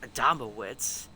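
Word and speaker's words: Adamowicz: No, it is Adam Adava because I remember I remember listening to the noclipip documentary of Bethesda game studios and I remember hearing it that name be pronounced Adamawitz.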